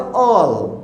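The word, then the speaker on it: old: Even उसके बाद में ओल्ड को हम लोग शॉर्ट में बोलते हैं ऑल, ओके, यानी डी को थोड़ा कम करते हैं, स्ट्रेस नहीं होना चाहिए।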